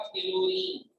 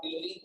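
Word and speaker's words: chlorine: जब आप क्लोरीन की स्पेलिंग लिखते हैं H लिखते ही नहीं क्योंकि वो साइलेंट है।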